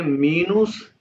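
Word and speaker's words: minus: प्लुस सिवाय ग्लाइस जी माइनस का स्पेलिंग वही है मीनुस फिर मिनस ग्लास मल्टीपल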